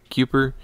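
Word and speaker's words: Kuepper: I don't know how to pronounce that. K-U-E-P-P-E-R. Cooper? Cooper, probably.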